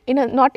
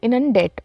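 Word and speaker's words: inundate: इनन ेंट इनन डेट इन नॉट इनन ेंट इट्स इनन डेट okay इनन डेट आई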